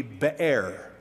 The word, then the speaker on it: Beer: So if you don't mind, I'm going to give it the proper pronunciation. Otherwise, you'll get in your mind that they went to like the place where Budweiser's are made or something.